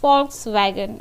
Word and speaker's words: Volkswagen: Yeah, it's pronounced as Volkswagen, okay, shortened to VW.